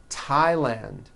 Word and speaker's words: Thailand: Although these next words and names are spelled with a TH, they are pronounced as if they were spelled with a normal T, like that.